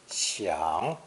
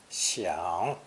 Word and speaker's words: 享: This character, in both its original and present form, are pronounced third tone, xiang, xiang.